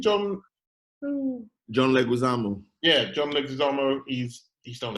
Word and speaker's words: Leguizamo: John Leguizamo.